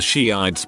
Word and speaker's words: Shiites: I remember in high school one girl was giving a presentation on something and kept mentioning the Shiites but pronounced it shites for her whole 10-minute thing.